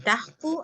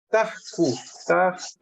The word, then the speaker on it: Tajku: El Tajku ahí se pronuncia con K, no con G. Tajku.